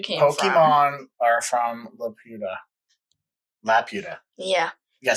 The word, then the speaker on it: Laputa: Pokemon are from Laputa. Yeah. You gotta say it right. It's not. Wait. Laputa.